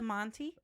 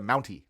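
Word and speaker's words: Mountie: h the shock stick by the monty oh the mounty not the monty sorry montgomery said it wrong you do not know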